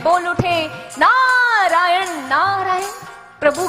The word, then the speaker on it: नारायण: नारद जी ने कहा, ऐसे नहीं, जैसे हम बोलते हैं ऐसे बोलो, नारायण नारायण। हमारे द्वारिकाधीश भी उसी लहजे में बोल उठे, नारायण नारायण।